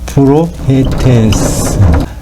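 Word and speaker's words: προφήτης: 선지자는 프로페테스, 선지자, 프로페테스. 요거를 그냥 쉽게 발음을 프로페테스라고 발음하기도 합니다.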